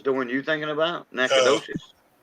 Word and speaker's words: Nacogdoches: one you're thinking about nacogdoches no it's nakedus that's how it's pronounced in that why is